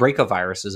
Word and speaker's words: bracovirus: And what's cool is some caterpillars survived that encounter because those viruses, which are called bracoviruses, if I remember correctly, it's BRACO, bracovirus, are in butterflies now, or in lepidopterans, I should say, more broadly.